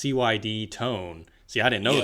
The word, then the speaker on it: CYD Tone: Now you said it's pronounced CYD Tone.